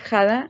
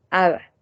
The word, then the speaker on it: 하다: en vez de decir jada nosotros vamos a pronunciar a dar ok entonces el sonido va a ser nada en vez de had a la h se vuelve como muda ahora si en el